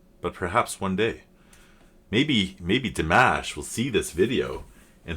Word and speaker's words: Dimash: Maybe Dimash will see this video and he'll be like, or Dimash, sorry, somebody had pointed that out to me. If I say D and then Mosh, I'll be closer to how to say it.